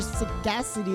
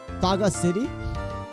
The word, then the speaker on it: sagacity: photo reputation for sagacity as well or suggests saga city I'm sure it's pronounced sagacity well-earned your own action